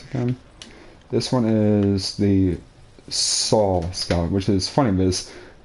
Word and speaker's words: Sol: Yeah, that's exactly how you spell my middle name, SOL. And it's pronounced Saul? It's pronounced Saul, yep.